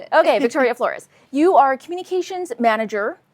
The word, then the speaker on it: Flores: So today, Victoria Flores. Am I pronouncing your last name correctly? Yeah, you got it. You got it. Flores because I never know where to put the emphasis.